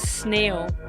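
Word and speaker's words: sneeuw: The Dutch word for snow is snail and it's written like this. S N E E U uh W. Snail.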